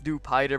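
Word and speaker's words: Dewpider: don't have reliable recovery sorry if I pronounced dupit or like Jupiter I know it's do pider because it's spider my bad my bad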